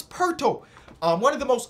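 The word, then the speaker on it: Poeltl: it to jacob perto people say it rhymes with turtles so it's perto um one of the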